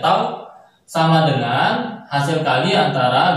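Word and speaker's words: τ: Nah, secara matematis torsi disimbolkan dengan huruf Yunani, yaitu adalah, nah ini dibaca dengan tau, bacanya tau, sama dengan hasil kali antara gaya dengan gaya yang tadi.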